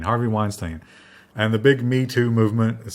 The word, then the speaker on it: Mi Tu: Basically, they censored Me Too, but the way that you pronounce the characters for Rice and the bunny sounds kind of like Me Too. It's M-I and T-U, so Me Too.